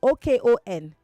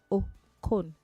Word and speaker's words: Okon: It's not Cole. Okon. Pronounce it. Oh, Kon.